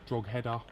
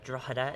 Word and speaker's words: Drogheda: Quite fortunate enough to be joined by the main man of Drogheader, none other than Chris McKenna. How are you, mate? Very good, mate. It's Drogheda is how it's pronounced.